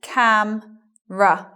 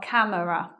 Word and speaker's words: camera: it in other words so it becomes cam ruff not camera next word family I